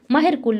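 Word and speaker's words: मिहिरकुल: चौथे नंबर पे थे महरा कुला, जहाँ महर कुल भी उनको बोला जाता है, ठीक है। एग्जैक्ट प्रोनाउंसिएशन इसकी महर कुल ही होती है, ठीक है।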